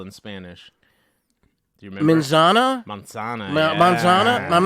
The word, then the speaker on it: manzana: pronouncing it correctly Manana monsana yeah you don't go like you're doing the you're doing like the Z and we don't they don't necessarily Z as much as us it's almost a